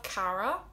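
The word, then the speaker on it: Caragh: beautiful then we have cara which can be spelled c a or a or c a or a g h the gh is silent and that just means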